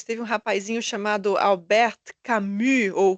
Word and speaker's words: Camus: E ali em 1942 teve um rapazinho chamado Albert Camu ou Camus, eu nunca sei como é que pronuncia esse nome. Enfim, o cara escreve, a Thía sabe. Diga, Thaísa. Cami.